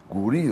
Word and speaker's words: Guri: Hocam Gavri mi Guri mi? Guri. Guri o değil mi? Niye Gavri diyoruz biz? Öyle değil.